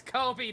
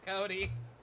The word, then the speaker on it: Kobe: Oh, it's Kobe, not Cody. I've been saying it wrong. It actually is Kobe, not Cody, isn't it?